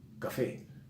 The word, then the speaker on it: café: Café, café, termina en vocal, es aguda, lleva acento.